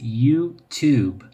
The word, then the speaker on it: YouTube: La pronunciación de esta aplicación es YouTube. YouTube. Porque la Y en inglés no se dice como la Y de lluvia en español, sino como una I latina.